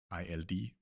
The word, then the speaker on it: ild: Example here we have ild, which means fire. You can hear here the D is not pronounced at all. It's like it doesn't exist. ILD, pronounced ild.